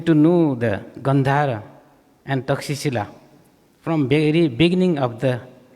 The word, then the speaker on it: Takshashila: So, as a student of Pariyati, I came to know about the Takshila, which now it is pronounced in English, but actually it is Takshashila.